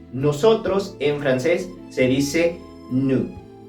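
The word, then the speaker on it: nous: en francés se dice nu nu te habrás dado cuenta que la s no se pronuncia al final y es importante porque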